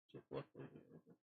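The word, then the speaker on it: Jake Lucky: Jake Luckily. Jake Luckily. That's how you pronounce his name.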